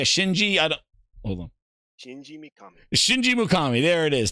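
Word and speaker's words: Shinji Mikami: a shing a Shinji I don't hold on Shinji mukami Shinji mukami there it is thank you very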